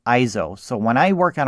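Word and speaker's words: EIZO: monitor and the manufacturer i believe you pronounce it iso so when i work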